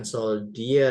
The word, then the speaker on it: soldier: And then nah ini D-nya dibaca jadi jad. bukan soldier ya, tapi soldier. Soldier itu tentara.